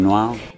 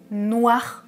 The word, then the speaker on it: noir: Alors, il ne prononce pas les R de façon très forte. Personnellement, moi je prononce un peu plus le R. Par exemple, un film noir, je vais accentuer un peu plus la prononciation du R.